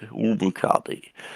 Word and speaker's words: Omukade: Umakade. Umakade. The line means it's longer. Okay, Umakade.